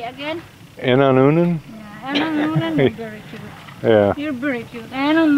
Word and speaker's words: Inon onan: Inon onan?